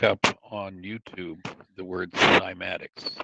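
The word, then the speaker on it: cymatics: if you look up on YouTube the word simatics, c y m a t i cs, simatics, and you look at how sound spell it again.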